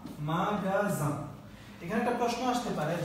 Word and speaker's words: magasin: বলে থাকে হ্যাঁ তো যে পরে যদি একটা আ থাকে বা ও থাকে বা ইউ থাকে তাহলে এটা গ উচ্চারণ করতে হয় ওকে তাহলে কি দাঁড়ালো